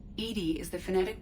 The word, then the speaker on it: EDI: have a specific inquiry why are you named Edie Edie is the phonetic pronunciation of e di that is an acronym